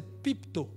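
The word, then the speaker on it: πίπτω: conjuguant le verbe c'est pipto P i p t o et la prononciation c'est pipe et pu to to à côté donc ça donne pipto pipto c'est ce prosterner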